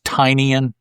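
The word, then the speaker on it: Tynion: I think it's Tynian. Yeah, because that's why his newsletter is called Tiny Onion.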